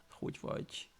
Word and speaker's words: hogy vagy: Yeah, because the G sound, the G and the Y together is G, which is, yeah, it's pretty not something that you would definitely hear in English, for example. Like, but it's the G sound is just nothing really like we have in English. For example, if you say Duke, it's the beginning of the DU. The Duke is something similar, but not the same.